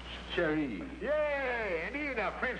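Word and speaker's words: Mon Chéri: is sweet you say Mon Cheri oh you've got the room and set on down in the French language area carry that sherry sherry like either one where you don't accent the first syllable you're sprayed it Carrie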